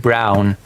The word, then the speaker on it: Braun: I mean actual surname of a politician that is pronounced brown.